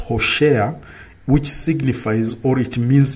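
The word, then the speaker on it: Hoshea: of the father so the Hebrew name of the Prophet Hosea or in other words when you pronounce it in Hebrew it's it's her share which signifies or it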